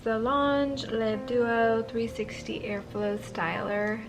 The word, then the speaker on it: L'Ange: I looked up how to say it, how to pronounce it. It's like Lange.